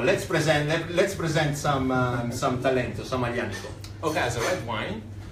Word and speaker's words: Aglianico: Garden branch, we have Aglianico Talento. As Bruno say, do not say Aglianico, but it's Aglianico.